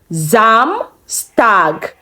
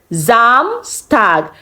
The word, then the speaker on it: Samstag: Samstag. Samstag. Now we have two S in this word. One sound Z and the other one sound S.